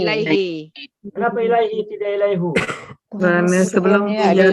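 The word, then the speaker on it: إِلَيْهِ: Contoh yang lainnya lagi ilaihi apa ilaihu? Ilaihi. Ilaihi. Kenapa ilaihi tidak ilaihu?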